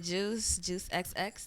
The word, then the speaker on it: Juice XX: I go by the name Juice XX. The X is silent because you're going to give me 2 kisses after you hear me sing.